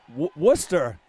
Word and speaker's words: Worcester: I don't think anyone's really upset at my pronunciation of the names. I think everybody understands. But, yeah, you make a good point. Worcester, people call it like Worcester.